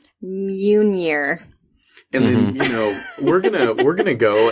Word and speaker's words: Meunier: It's spelled Meunier. So it's pronounced Meunier, but it looks like Meunier.